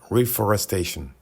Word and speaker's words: reforestation: pour notre planète reforestation reforestation s'écrit exactement comme en anglais reforestation reforestation seule la prononciation change consiste à planter des